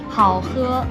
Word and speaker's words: 好喝: 好喝.